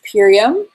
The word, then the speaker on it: Purium: It's Purium. Okay, how Purium do you Health spell that? Plus. It's How do you spell that? P-U-R, P-U-R-I-U-M. yeah, Purium. So it's pure and premium.